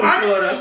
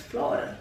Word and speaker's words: Florida: of how we talk, we can't even say Florida. Florida. It's Florida. You gotta say it the Haitian way to say it right.